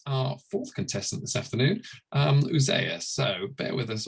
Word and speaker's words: Uzziah: Am I pronouncing that correctly, Uzziah?